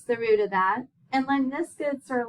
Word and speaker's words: lemniscates: Those are called lemniscates.